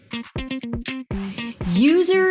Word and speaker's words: user: User experience. UX. User. User. You start with the word you and then you shift to the z sound.